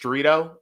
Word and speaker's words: Jerrido: My name's Jerrido. It rhymes with Doritos, in case you have some difficulty pronouncing it.